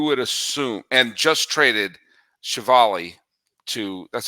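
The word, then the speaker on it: Civale: You would assume, and just traded Chevali to, that's how you pronounce his name, right? Chevali, Aaron yeah, Chevali, so you just traded Chevali to the Tampa Bay Rays.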